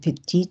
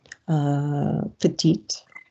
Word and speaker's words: petit: Avec des petits secrets. Pause. What's the pronunciation of the word small there? Petite.